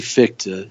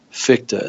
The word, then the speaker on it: Fichte: Fichte. J.G. Fichte. That's spelled Fichte.